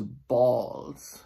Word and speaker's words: balls: And then there's balls, it's written with an A, and ball rhymes with tall and hall and crawl.